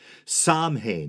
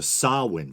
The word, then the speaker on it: Samhain: people generally went around pronouncing it how it looked samhan or samhan from what I could